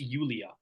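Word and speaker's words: Yulia: um sure the first I don't know if it's pronounced Julia or Julia uh if if you're going to be completely correct it's ulia musenko that's what I thought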